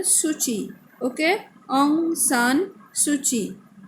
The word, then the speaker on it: Suu Kyi: Okay, spelling AUNG, Aung San, SAN, then SUUKYI. So KYI means pronunciation like this key dot, but no. So pronunciation Suu Kyi.